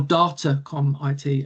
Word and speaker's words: Datacom IT: I'm business development manager for Datacom IT here in CRA or or Datacom IT as I'm told is the correct um pronunciation.